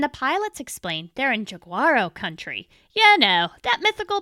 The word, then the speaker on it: Jaguaro: Okay, I looked it up, and apparently the J in Portuguese is pronounced J, not Y, like in Spanish. My bad, you can call it Jaguaro, but not a hard J, a soft A. It's Jaguaro, not Jaguaro, at least according to